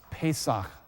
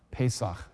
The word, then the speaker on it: Pesach: itself we'll look at that in Hebrew it's pronounced Pesach Pesach chapter 12 the Lord said to Moses and